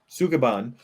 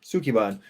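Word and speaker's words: Sukeban: I put the name in there so I could see if you'd pronounce it. Sukuban? Sukiban.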